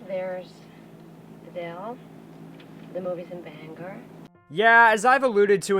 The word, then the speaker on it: Bangor: The movie's in Bangor. Yeah, as I've alluded to in the past, a lot of people that aren't native Mayers think Bangor is pronounced that, I can attest that it's not.